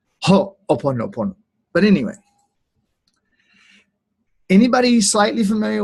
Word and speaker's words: ho'oponopono: Dev's going to get on to me later for not pausing and putting the emphasis precisely, because she's Hawaiian. Ho'oponopono.